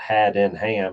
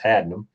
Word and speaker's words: Haddenham: It's not had in ham, it's hadum.